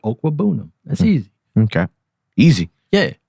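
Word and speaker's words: Okwuegbunam: It's not Albert O. It's Albert Okwebunam.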